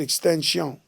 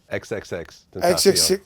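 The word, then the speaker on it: XXXTentacion: Like, look at what happened with the kid Extension. XXX. Tentacion. XXX. It's funny because Boosie called him Extension also in our interview, but it's actually pronounced XXX Tentacion.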